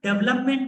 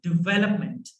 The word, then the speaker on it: development: Now, this is not development, guys. This is development.